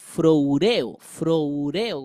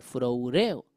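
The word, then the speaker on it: φρουρέω: Ojo, la palabra guardados que utiliza aquí viene del griego froureo con acento en la E, froureo.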